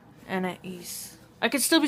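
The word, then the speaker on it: Anaïs: her name it is Anna E Anna Anna I've been saying an but it's Anna E and you know how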